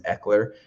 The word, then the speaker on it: Ekeler: is where you can check it out and it's spelled like my last name my last name is Eckler and it's EK KS so everyone calls me